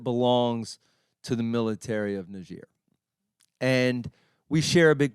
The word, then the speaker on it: Niger: You may pronounce it Niger if you've seen the map. Niger.